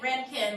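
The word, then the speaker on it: Röntgen: medic in all right like Renkin like the hair product for summers yeah yeah that's not bad and I always think about it like pay the rent again yeah pay the Redken yep so even though it looks like rongkhun it's typically pronounced roentgen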